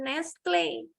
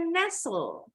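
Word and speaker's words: Nestlé: kalau orang Indonesia bilang merk susu Nestle salah nih bukan Nestle harusnya nesul Naso artinya berada dari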